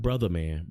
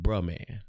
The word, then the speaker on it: Bruh Man: Not Brother Man, but Bruh Man. You got to say it like that.